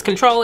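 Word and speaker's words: CTRL: Well, it's spelled C-T-R-L, but it's Control.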